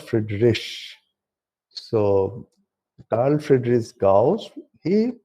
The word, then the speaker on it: Friedrich: And people also produce many times I have seen Friedrich, people call it, but this is also not pronounced as Friedrich. It is called Friedrich.